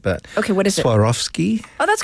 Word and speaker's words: Swarovski: You're going to have to help me with this because maybe my wife knows how to pronounce it. But okay, what is it? Swarovski.